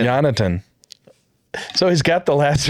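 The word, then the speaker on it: Jonatan: No, the first name. Jonathan. It's Jonathan. Jonathan.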